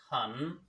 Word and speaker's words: 很: Hello friends today's word is Han Han its pronunciation or opinion is hum Han me very